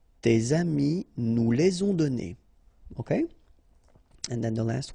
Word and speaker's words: donnés: Okay, so the good news is that you don't pronounce it, so donner, okay? So whether it would be without this final es or with es, you will pronounce it the same way.